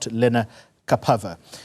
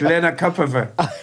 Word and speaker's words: lenacapavir: changer you speak about, lenacapavir. My pronunciation of it is going to improve, I promise. It's perfect. It's perfect. lenacapavir.